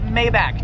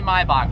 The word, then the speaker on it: Maybach: thing is like a mybach you guys don't like the way I pronounce Maybach then I'm going to call it mayback just kidding mayback music it's actually my Bo but whatever look at